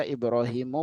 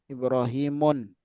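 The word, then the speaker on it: إبراهيمُ: Thumma Ibrahimu ya bacanya, karena Ibrahim ya bukan nama Arab. Ya nama Arab itu dia mamnu' minas shorof. Shorof itu adalah tanwin. Berarti tidak bisa tanwin. Ya, makanya kita baca Ibrahimu bukan Ibrahimun, tapi Ibrahimu.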